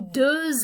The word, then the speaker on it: deux: And the final question, ça s'écrit, that's written, avec un ou deux S.